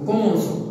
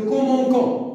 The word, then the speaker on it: commençons: Nous commençons. Alors, avec une cédille. Si on n'a pas écrit la cédille, on va dire nous commençons. Donc il faut une cédille pour prononcer S.